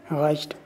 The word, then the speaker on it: reicht: Reicht. राइस्ट। Spelling का ख्याल रखें।